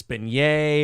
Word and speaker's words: beignet: west for halloween you've been yay yeah uh unc yeah jeep just calling me an uncultured swine it's french it's been yay oh we're so stupid ah beignets yeah people are oh